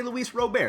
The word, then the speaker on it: Luis Robert: not robert in his home country it is pronounced robert so i would say if you want to be correct say louise robert it's not louis bob then you have lurie